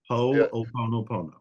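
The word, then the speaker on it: Hoʻoponopono: Ho'oponopono.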